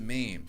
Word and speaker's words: meme: I always called it Mimi at first, all over I the didn't net.